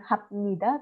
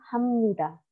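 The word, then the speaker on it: 합니다: cara bacanya omnidaya robot Jadi bukan hak Midah tapi Hamnida bukan sepeda tapi semudah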